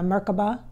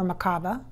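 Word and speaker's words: Merkaba: like Metatron's cube or a merkava or Makabe however you want to pronounce it a Flower of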